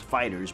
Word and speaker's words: FighterZ: fighters or fighter Z it's pronounced fighters but the Z is emphasized because Dragon Ball Z